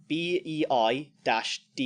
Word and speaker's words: Baidu: by 2020 then there's pronounce this right Baidu which is a Chinese Chinese system bei - do you again that hopefully